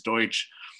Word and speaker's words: Deutsch: The other thing from a media relations standpoint, so my name is Deutsch.